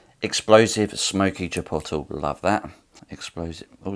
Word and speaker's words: chipotle: And just for everyone out there, it is pronounced chipotle. It's not pronounced chipotle. I don't give a fuck what anyone says. It's pronounced chipotle. Sound it out.